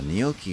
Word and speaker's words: gnocchi: Gnocchi. Yeah, gnocchi is how you pronounce that.